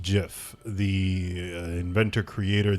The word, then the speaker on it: GIF: word gif is pronounced jiff the inventor creator the originator of that word himself has said that it is jiff so listen to me